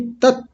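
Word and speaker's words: तत्: तस्य बोलते हैं। तस्य वितुर्ववरेण्यम तस्य नहीं तत तत लिखा हुआ है तो तत बोलेंगे।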